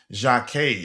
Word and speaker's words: Jacquet: pursuit of um what how do you pronounce his last name again? Jeremy Jaki. Is that how you pronounce it, Dante? Jac Jeremy Jac.